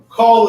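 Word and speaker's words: כל: Really kind of rhymes with the English word. Give to us call. Call is all. I always remember that because it rhymes.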